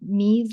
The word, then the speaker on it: Mees: is regular stretch marks follow what we call Mees lines. It's spelled MEES.